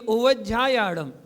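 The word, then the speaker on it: उवज्झायाणं: उव उव उव उज झायाणं मिला के बोलिए उव झायाणं णमो लोए आगे नहीं जितना आपको पढ़ा रहे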